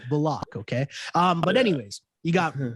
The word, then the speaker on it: Bullock: Because he just changed it and told the reporters that his name is pronounced Bullock. That's right. That's what that threw everybody for a loop. Bullock. My name is not Bullock, it's Bullock.